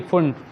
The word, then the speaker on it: Pfund: हाँ, वो P silent रहता है, PFUND, फुंड।